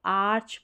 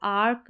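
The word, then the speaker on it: arch: आर सी एच रहेगा इसको आर्च पढ़ें अब इसको आर्क नहीं पढ़ेंगे आर्क नहीं सी और एच को यहां पर च पढ़ा जा रहा है सी एच का उच्चारण च हो रहा है आर्च करके पढ़ेंगे अब यहां पर देखें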